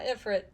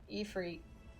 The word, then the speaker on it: Ifrit: That's how to pronounce it in this game. Not Ifrit. Ifrit.